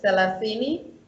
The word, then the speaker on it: selasini: It's actually like the English th. So, for example, there's the word selasini, which means 30.